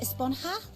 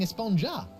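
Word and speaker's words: Esponja: Actually, it's pronounced Esponha with an H sound at the end. Really? But we've all been saying Espongja.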